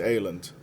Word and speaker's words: island: E no holandês ela também não tem S, island.